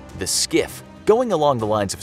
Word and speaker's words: SCIF: The SCIF. Going along the lines of secure information, on board every carrier is what's called a SCIF, which stands for Secure Compartmentalized Information Space.